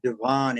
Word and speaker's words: Devon: And Devon Avenue, in Pennsylvania, they know how to pronounce it correctly. In Chicago, we call it Devon Avenue, but if there's any possible way to